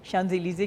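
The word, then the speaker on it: Champs-Élysées: और मैंने छोटा सा एक रेस्टोरेंट बनाया है शांज़ेलीज़े के नाम से।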